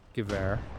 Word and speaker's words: Gewehr: Mountain snipers with the Gewehr are or Gewehr, I believe it's pronounced. Um my German friends in the comments can correct me if they like, but I do believe it's pronounced Gewehr.